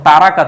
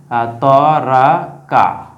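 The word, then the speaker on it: ترك: আমরা যেটা ব্যবহার করি তরাকা, এটাকে অনেকে বলে তরক, তরক করা, অর্থাৎ বাদ দেওয়া, বর্জন করা, তরক করা যেটা বলি, হ্যাঁ, এইটাই তরক। হ্যাঁ, আরবি উচ্চারণ হচ্ছে তারাকা, হ্যাঁ, এটা অনেকে বাংলায় বলে তরক, হ্যাঁ, অর্থাৎ তারকুন।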